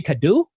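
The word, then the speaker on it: Cadoux: Cadu.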